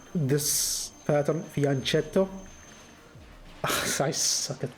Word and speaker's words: fianchetto: Again, I think one of the players, well, he isn't playing this anymore, but I think he told me how to pronounce this pattern, fianchetto.